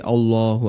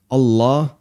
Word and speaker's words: Allah: Akbar memang bacaan atau huruf lam dalam kalimat Allah dalam kata Allah itu dibaca tafkhim tebal nah kadang sebagian orang di masyarakat kita kan ada beberapa kesalahannya ada yang baca Allah Allah dan itu berarti masih tarqiq masih tipis harusnya agak tebal Allah nah sebagian orang